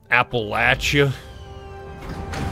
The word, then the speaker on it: Appalachia: he's from around my neck of the woods Appalachia more when I was in college I was in Tennessee but you pronounced it right and for that I'm proud